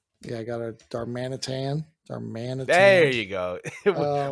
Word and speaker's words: Darmanitan: I got a darmanitan darmanitan there you go we taught George to trick to saying darmanitan it's just to say it like a cowboy yeah but I've uh